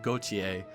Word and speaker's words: Gautier: I said Gautier, and then a lot of people were like, that is not correct, it is Gautier. It's basically like G-O-C-H-Y-E, Gautier.